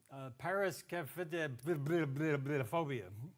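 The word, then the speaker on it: paraskevidekatriaphobia: Did you actually know that 10% of the population suffers from, paraskephophobia? Yes, that's exactly how it's pronounced, right?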